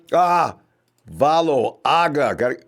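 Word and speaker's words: Valoaga: Got those vowels together, you pronounce them both. Valo. Long, Aga, short, Valo, Aga.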